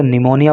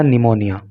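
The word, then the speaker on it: pneumonia: linked to निमोनिया देखिए कई बार निमोनिया की स्पेलिंग बहुत सारे लोगों को याद नहीं होती क्योंकि जब हम हिंदी में बोलते हैं तो निमोनिया बोलते हैं लेकिन इसकी स्पेलिंग जो है पी से स्टार्ट होती है यह बात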